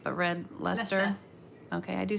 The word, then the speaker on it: Leicester: She used English mustard and some Grand Canyon and, I don't say it right, but red Leicester.